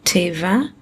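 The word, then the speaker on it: טבע: Because nature, in Hebrew, teva, rhymes with sheva.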